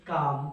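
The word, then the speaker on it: calm: तो उसे बोलते हैं क्लैम, क्लैम, या फिर काम भी बोलता है, ठीक है। वैसे प्रोनाउंसिएशन जब इसका होता है उसको बोलते हैं काम, ठीक है।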